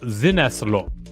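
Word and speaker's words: Sinnesloschen: delete or sensory deprivation if it were a german term of actual use sine sloshin would be pronounced like zinaslo the word's meanings are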